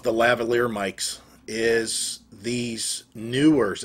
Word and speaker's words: Neewer: The other microphones that I have, and I love the lavalier mics, is these Neewers. It's N-E-E-W-E-R, so nearer. Neewer. I just pronounce it Neewer mics.